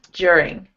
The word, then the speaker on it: during: Think of during. It like there's a J in the word. During.